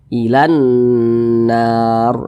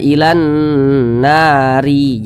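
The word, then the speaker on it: إلى النار: Ini kita baca ilan nar. Huruf ro nya kita sukunkan. Jangan dibaca ilan nari, jangan. Tapi huruf ro kita sukunkan atau kita matikan.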